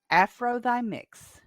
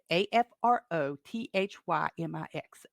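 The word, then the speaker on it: afrothymix: a a screen name that is pronounced afrothymics a-f-r-o-t-h-y-m-i-x afro thy mix gave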